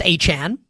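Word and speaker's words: Etienne: We just saw the Saints sign newly newly named Travis Achan. He wants to go by that's the real pronunciation of his name.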